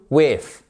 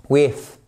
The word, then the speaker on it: with: To go through with. Oui, sérieusement, faites-le. Mais vous mettez la langue entre les dents du bas et les dents du haut et vous faites passer. Oui. With regardez with, with through with with through.